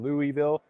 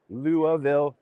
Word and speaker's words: Louisville: the Ohigh booth in Louisville. Sorry, Luavville, Kentucky. We've been taught how to pronounce the city many times and obviously it didn't stick in my brain yet.